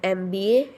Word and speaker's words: MBA: An mba here e m sound.